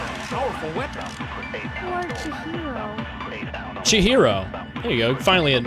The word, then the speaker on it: Chihiro: Chihiro. There you go. Finally, an actual pronunciation of it.